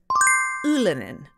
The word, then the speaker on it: Ylönen: It's not Ylönen. It is Ylönen. Say it with me.